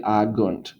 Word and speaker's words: agunt: This is agit, but this is actually agunt. So sorry that's confusing, but this is going to make a j sound here, but it's going to make a g sound here.